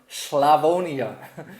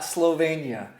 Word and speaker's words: Slavonia: So, we just got back from an exciting multi-day trip tasting through the region of Slavonia, not Slovenia. Thank you, Shireen, for correcting my pronunciation.